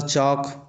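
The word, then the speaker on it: chalk: उसी प्रकार चौक चाक का भी स्पेलिंग इस प्रकार से होता है किंतु पढ़ा इस प्रकार से जाता है। चौक का भी स्पेलिंग चल लिखाता है किंतु पढ़ते चौक है यानी कि एल साइलेंट हो जाता है।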